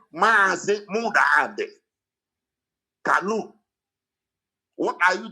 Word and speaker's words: Mazi: So to pronounce Mazi Nnamdi, they wrote it M-A-A, Mazi. They didn't write M-A, they wrote Mazi.